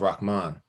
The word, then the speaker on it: Rahman: So you could say I grew up as Rahman because my mom mispronounced my own name because she thought she made it up, but it's actually an Arabic name that you pronounce Rahman.